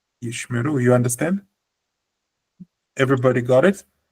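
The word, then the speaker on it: ישמרו: Actually, the incorrect way of pronouncing it would be yishemeru. This would be incorrect because there's no e and there's no e. Instead, there's a shva, which means pronounce as per normal.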